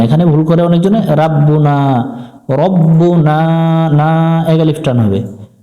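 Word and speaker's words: رَبُّنَا: এক আলিফ টান দিব এক লেখাগুলো দেখে কলু রব্বুনা রা পড়া যাবে না এখানে ভুল করে অনেকজনে রাব্বুনা রব্বুনা এক আলিফ টান হবে জবর এবং খালি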